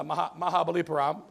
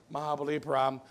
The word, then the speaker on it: Mahabalipuram: It's a Mahabalipuram, you can pronounce that one, Mahabalipuram, where they have the largest stone carving in the world.